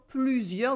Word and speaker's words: plusieurs: Plusieurs with the U sound, a silent S at the end as well, and an E in heure.